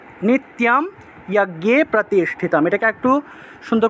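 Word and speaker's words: নিত্যম্: এখন অনেকে তো তিয়ম উচ্চারণ করেন না, আপনারা আপনারা নি তিতে গিয়ে টান দিয়ে দেন, নিতিয়ম বলে ফেলেন। এটা নিত্যম হবে না, নিত যুগ ইয়ম, রস্বইটাকে রস্বইকার হিসেবেও ব্যবহার করা যায়। তাহলে এইভাবে উচ্চারণটা করতে হবে, নিত্যম, নিত্যম, এইভাবে নিত্যম যজ্ঞে প্রতিষ্ঠিতম, এইভাবে।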